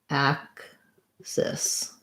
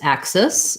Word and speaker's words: axis: The main difference here, it's also got first syllable stress. So for this one, I would kind of write it like axis. I'm thinking of the word cis.